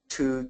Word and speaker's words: two: matter where it appears two twin twice and between also notice that the W in two is pronounced in Twin and twice and between so that might help